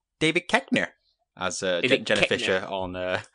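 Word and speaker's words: Koechner: rehearsing Afternoon Delight with Steve Carell and David kirner sure Ben it's pronounced David keker as Jen Fisher on the office latest podcast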